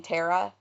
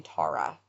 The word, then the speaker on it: Tara: this up is because I've always pronounced this name Tara, like Sarah. Yeah. but I watched her family talk about her on Unsolved Mysteries, and they pronounce her name Tara.